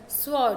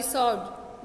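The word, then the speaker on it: sword: स्वॉर्ड, okay, सॉरी, सॉर्ड.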